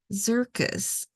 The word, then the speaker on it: Xircus: take a look at zircus uh it's spelled like circus but with an X um and it's so